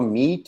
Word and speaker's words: meat: Watch out for meat and great and fret. They rhyme with sweet and straight and debt.